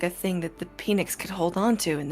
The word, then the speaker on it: Peanix: It's pronounced Peanix.